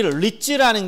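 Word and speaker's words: REITs: 이 리츠라는 게 이 부동산 투자회사를 영어로 읽으면 리츠라고 읽어요.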